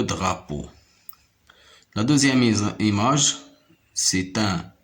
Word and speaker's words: drapeau: Regardez la deuxième syllabe. On a P et EAU qui me donne le son O. Po, le drapeau.